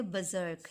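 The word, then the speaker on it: berserk: Buzzer, यहाँ पर आर जो है वो साइलेंट है, और एस का जो साउंड निकलेगा वो जेड का निकलेगा। इसको हम पढ़ेंगे बजर्क।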